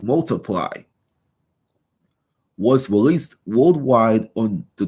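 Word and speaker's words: ÷: Sheeran's second studio album is pronounced Multiply, was released worldwide on the 23rd of June of 2014.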